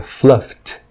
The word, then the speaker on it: fluffed: Como o som final na forma básica é um som não vozeado, então a pronúncia de ed é com som de t. Ficaria fluffed.